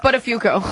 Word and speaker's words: Buttafuoco: It's pronounced Buttafuoco.